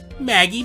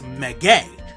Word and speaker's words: Maggey: So, it's not just simply Maggey, it's Maggey. Not really, it's still pronounced Maggie, but eh.